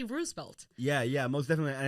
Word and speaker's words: Roosevelt: to bring this up the correct way to say it is roosevel because that's kind of